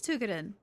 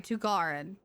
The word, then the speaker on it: Tugarin: Actually, where is Tugodin or sorry, Tugarin? I keep saying the Russian pronunciation.